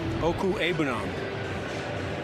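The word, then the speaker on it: Okwuegbunam: So go ahead, you can say it. Oku Ebunam. Yes. It's pretty good. Not bad. Our producer, Jonathan Siegel, says, yeah, just like it's spelled.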